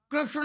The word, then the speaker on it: कृष्ण: सबसे पहले नाम गर्गाचार्य जी ने रखा कृष्ण, जो सही उच्चारण है कृष्ण का, तो कृष्णो णो, तो कृष्णो, तो पूरी जीव टेढ़ी हो जाए।